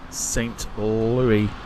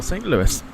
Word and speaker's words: St. Louis: are headed out to St Louie or St Louis depending on how you want to pronounce it we'll go with